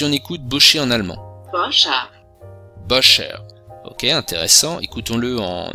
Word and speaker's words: Boscher: Boscher. Boscher. Ok, intéressant. Écoutons-le en néerlandais. Boscher. Donc c'est Boscher, mais c'est prononcé un petit peu différemment.